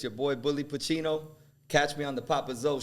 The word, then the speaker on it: Bully Pacino: the big bully Pacino. What? Bully Pacino. Did I say it right? Did I say it right? That's good. Bully Pacino.